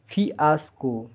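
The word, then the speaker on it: fiasco: आई A double F आई एस सी ओ फियास्को फियास्को का हिंदी अर्थ है असफलता बड़ी नाकामी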